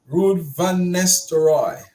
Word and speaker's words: Ruud van Nistelrooy: Rude when how you pronounce it, I always forget. Ruud van Nistelrooy. Rude when Mr. Roy.